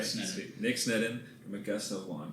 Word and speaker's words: Sneddon: Most people say Sneddon or something, so you got it right. I got it right. Sneddon.